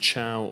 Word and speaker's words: Thiaw: Ja, also seitdem ich klein bin, eigentlich sagen viele den Namen falsch, aber der ist richtig ausgesprochen, Malick Thiaw. Ist wie Ciao hier in Italien, als ob du Ciao sagst.